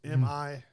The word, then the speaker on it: Milioti: Milioti. It's Milioti.